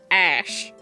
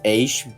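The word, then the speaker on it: X Æ A-12: I still can't believe that motley assortment of a key smash is pronounced Ash. I think technically it's Aish, but it Aish? More commonly referred to as Ash.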